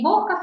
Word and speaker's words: boca: Então, é o caso da boca, que eu falo boca. Não falo boca, falo boca. A palavra fechada, ó, fechada.